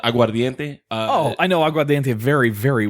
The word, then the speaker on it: aguardiente: Yeah, but you said it wrong. You just said like you're cooking pasta No, al I dente. didn't. Aguardiente. There's an I in there.